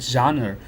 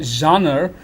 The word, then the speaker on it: genre: the word genre and we have got to acceptable ways of pronouncing the word genre one is genre as a British Way of pronouncing and there is genre so there are American and British pronunciation of the same term and the term implies